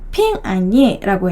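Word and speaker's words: 平安夜: 그 중국어 발음으로 크리스마스 이브가요. 핑안예라고 해요. 핑안예.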